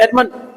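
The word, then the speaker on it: adamant: पहले पढ़ेंगे आपका एडमंड, बोलो ट आता है, एडमंड, ट नहीं बोलोगे, एडमंड, बस।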